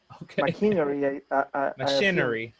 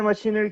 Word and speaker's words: machinery: out how to pronounce machinery. Machinery. Okay. Is the machinery capable of performing these processes? Very good. Thank you. So everyone again, machinery. Machinery. Good. Remember, we don't say machine.